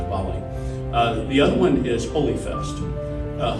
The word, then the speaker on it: Diwali: a Doug unit so you probably say Diwali but it's the pronounce it into Bali the other one is